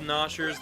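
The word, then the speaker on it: Gnawsher: nostr layer that works yeah the g is silent that's strange you know you know you don't normally see that the g is silent and stuff like this but these guys are called ners they will eat everything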